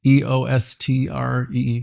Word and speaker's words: Eostre: It's Eostre, if I'm saying it right.